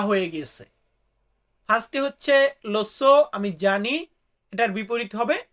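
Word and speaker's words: lo so: I know আমি জানি এটাকে আমরা ইতালিতে বলি লোসো অনেকে এটাকে আবার ইয়োসো উচ্চারণ করেন ওইটা মনে করেন যে ইয়ো তারপরে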